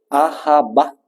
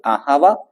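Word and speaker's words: אהבה: Esta palabra reemplazada después por el término ajaba, lo pronuncia así porque así está escrito, ajaba, que la traducción griega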